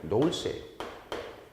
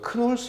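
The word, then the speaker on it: Knowles: 그래서 이 안드라고지라고 하는 개념, 이 개념을 학교 교육에 접목시킨 학자가 누구냐면 노울스예요. 노울스. 그래서 우리가 크놀스 이렇게 발음해도 되고요. 그냥 노울스 이렇게 말합시다.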